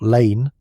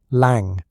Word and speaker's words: Lang: Not Lane, with an E on the end. Lang. It ends in a hard G.